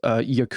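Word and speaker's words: Jakub: is Adam Sandler as Yak y uh how do they pronounce it yak yak yeah it's it's w it's j a KU but anyway this is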